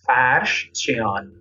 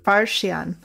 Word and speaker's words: Farshchian: How do you pronounce his name again? I think I'll say it wrong. Farshchian. Farshchian, like that?